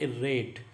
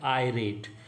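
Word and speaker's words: irate: सही आंसर है थर्ड, इरेट। सही प्रोनाउंसिएशन है वो है आयरेट। IR इर ना हो के इसमें IRAT आयरेट है प्रोनाउंसिएशन।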